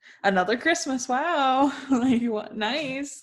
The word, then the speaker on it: Nice: nice nice france i always forget that it's pronounced actually nice um because i try to read it in